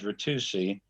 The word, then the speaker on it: Ritucci: Ken and I are good friends, and I bet he will never say this, but his pronunciation of his name is Ritucci, rhymes with AC Ducey, okay?